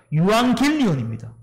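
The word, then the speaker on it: εὐαγγέλιον: 뭐예요 말 그대로 복된 소리 기쁜 소식이에요 헬라어의 발음으로는 유한길리온입니다 여기서 유한겔리온이요 안개를 이용이라는 천사를 합쳐서 기쁜 소식을 전하는 천사라는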